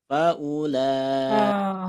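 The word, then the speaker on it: فأولئك: Salah satunya yang kalimat faulaika itu ada tulisannya tapi tidak ada dalam bacaannya. Gitu ya. Jadi bacanya berapa gitu Ustadz? Biasa aja. Pendek, biasa aja. Faulaika.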